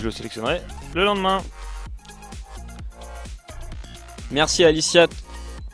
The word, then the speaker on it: Aliciat: Merci Aliciat. Il faut prononcer le T dans Aliciat.